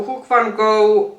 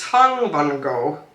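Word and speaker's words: Hung Vanngo: So Hook Van Go and I hope I did pronounce the name right. No Hook. It's Hung Van Go.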